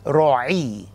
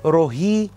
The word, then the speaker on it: روعي: السادس في أسماء العهد، يهوي روعي مش روهي زي ما في ناس بتقوله، لأنه مرات كتير الأجانب مش بيقدروا ينطقوا العين فبيقولوها هي. إحنا العرب عارفين ننطق العين فبنقول يهوي روعي، مترجمة صح الرب راعية، روعي راعي، هي هي.